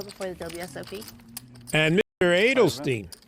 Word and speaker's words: Edelstein: the WSOP and Mr Edelstein is that how you pronounce his name Adel Stein like Leonard Bernstein yeah that'll that'll help